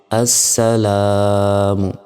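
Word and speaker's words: السلام: এটি এই শব্দের অর্থের কারণে এ লামটা দেয়া হয়েছে কিন্তু যখন উচ্চারণ করব তখন এই লামের উচ্চারণ হবে না হামজা সিন জবর আস সিন জবর সা লাম আলিফ জবর লাম মিম পেশ মু আসসালামু দেখুন জবরের বাম পাশে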